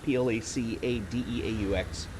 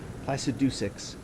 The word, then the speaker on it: Placidusax: saw that, I'm like, oh, that's not the French. It's not Placadeaux. I never looked at it closely enough to be like, Placidusix.